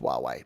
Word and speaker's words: Huawei: i like it uh i believe that huawei is pronounced huawei that's right i think like a wah pedal i think they're